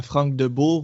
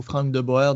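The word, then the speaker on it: Frank de Boer: Et l'entraîneur, moi je vais le donner à Franck Debourg ou Franck Deboer, dépendamment de où vous êtes, comment prononcer son nom, qui lui aussi est une usine à rater.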